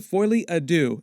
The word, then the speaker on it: Folie à Deux: The title is pronounced Joker Folie à Deux, and it's French for Joker Shared Madness, as in Joker Shared Psychotic Episode.